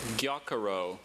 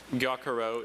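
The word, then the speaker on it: gyokuro: She's almost turning that first syllable into two syllables.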